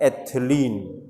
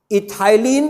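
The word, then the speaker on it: ethylene: तो हमने इसको क्या प्रोनाउंस किया? एथिलीन। इथाइलिन is also the same, confuse नहीं करना, इथाइलिन भी एक ही कंपाउंड है, नहीं स्पेलिंग सेम है, ETHY।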